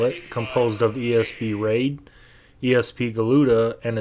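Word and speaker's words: Ra.De.: own Standalone title first off we have ESP raid yes I know the ra period de period doesn't actually pronounce raid but that's what it says at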